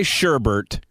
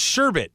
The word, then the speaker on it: sherbet: okay you could say sherbert but I would say sorbet you can't say sherbert ribbit it's sherbet there's no second are in there sherbet people say sherbert